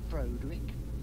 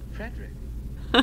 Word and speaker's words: Frederick: Do you also say Frodrick? No. Frederick.